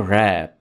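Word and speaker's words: wrap: रैप, इसमें आपने W को साइलेंट रखना है और वर्ड को पढ़ेंगे रैप।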